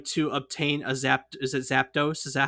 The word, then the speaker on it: Zapdos: someone was trying to obtain a is it Zapdos? Is that how you say it? Zapdos, yep.